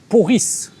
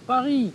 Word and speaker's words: Paris: C'est comme dire j'ai passé 10 ans à Paris, et le mec dit pas Paris, mais il va dire Poris.